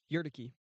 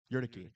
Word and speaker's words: Urquidy: I'm sure you guys know how to pronounce his name much better than me. Jose Urquidy? Yurtike. Yurtike.